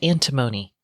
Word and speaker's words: antimony: Apparently, their use of, whether you say antimony or antimony, it boosts performance in LiDAR systems by bringing the sensitivity to 10x over current systems and 50% more range, which is pretty amazing. It's pronounced antimony, according to Google.